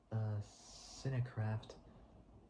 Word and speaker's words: Cinecraft: Cinecraft. It's like saying Minecraft, but replacing the M with a C at the start. And you get Cincraft or Cinecraft Productions provided the location production, crew, and post-production services.